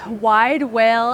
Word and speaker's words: Widewail: best way to yeah wide whale and i' I have heard that people are like is it wide wo is it wide wide is in like whale like beluga whale but it's spelled w